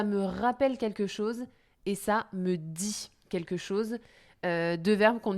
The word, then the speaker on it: ça me dit: Alors, ça me dit quelque chose. Alors, ça me dit, évidemment, ce n'est pas le jour de la semaine, hein, c'est la même prononciation.